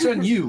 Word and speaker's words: 剩女: It's shun you. Like it's like Shun shun you. you. Like it's Shun almost you. like yeah, like okay. I'm shunning you, bitch. Shun you.